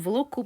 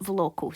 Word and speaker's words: Voloco: It's called Voloco, but VoiceOver pronounces it Voloco.